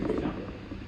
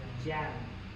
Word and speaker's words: Giang: Tại vì bây giờ là đang bây giờ mọi người cũng How do you say Xiang? I thought this was I thought it was Xiang. Giang. Chiang. Giang.